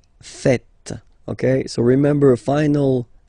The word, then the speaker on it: faites: And it's quite funny because many French people tend to make the mistake and tend to say vous faisiez, okay? But then no. It's vous faites. Vous faites.